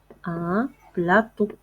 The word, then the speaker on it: plateau: un plateau. un plateau. لاحظوا جيدا معي في آخر الكلمة يوجد الحرف أو أ و أو فاش كيكونوا هكا مكتوبين كيتنطقوا أو. ان بلاطو ان بلاطو.